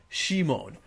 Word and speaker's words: Simon: This reminds me of when I watched the first 5 seconds of the Gurren Lagann dub, and they called Simon Shimon.